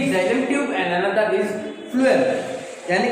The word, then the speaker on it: phloem: होता है, food and फ्लूएम में भी also food. Pronunciation look at the pronunciation, food यानी कि फ्लूएम, फूड, फ्लूएम फूड, यानी